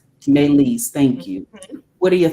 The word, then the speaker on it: Meleys: Meleys, thank you.